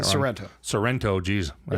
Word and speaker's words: Sorrento: scary thought especially what what serrano you know toronto toronto i wish you would stop calling me that i'm probably saying sorrento sorrento jeez i said it wrong a few